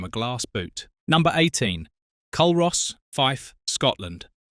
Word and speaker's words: Culross: Culross, Fife, Scotland. Pronounced Culross, not Culross, and getting that wrong in front of a local will earn you a look that could curdle milk.